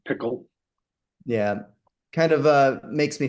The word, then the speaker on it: Pkl: And Apple introduces a new programming language called PKL or Pickle. Not sure how you pronounce it. Yeah, it's Pickle.